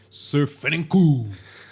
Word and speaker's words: SirFranku: boy, that we can follow on Instagram at SirFranku.